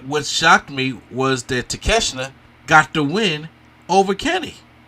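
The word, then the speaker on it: 竹下: The 6-man tag team match, Bullet Club Gold, Jay White, Juice Robinson, with Kenosuke Takeshita. Did I say it right? Takeshita.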